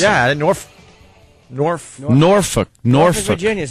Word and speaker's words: Norfolk: I like to say Norfolk. How do you say it where it almost sounds like you're cursing? Yeah, Norfolk.